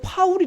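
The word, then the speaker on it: Paul: 진리 곧 모아 봐 다른데서는 폴 틸리 뭐 이렇게 불리는 사람이 있어요 이 사람이 그 독일계 같아요 그 친 2회 라고 익으면 독일 발음 이거든요 그런데 앞에 폴도 파울이 라고 읽어야 되요 파울 틸리 그렇게 읽어야 되는데 앞에는 영어식으로 폴이 라고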